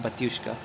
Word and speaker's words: Batushka: I think that's going to be pronounced Batushka.